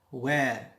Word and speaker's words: where: Where. Notice here H is silent.